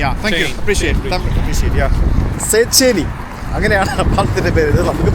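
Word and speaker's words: Széchenyi: How do you pronounce this name? The name of this bridge? Seycheny. Seycheny. Yeah. Thank you. Appreciate. Yeah. Seycheny.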